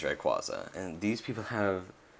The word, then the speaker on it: Rayquaza: I am never pronouncing it Rayquaza. It is Rayquaza.